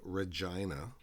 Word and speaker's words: Regina: The jerks at school called Evie extra virgin, and the same boys called me Regina, which is my name all right, but they pronounce it to rhyme with vagina.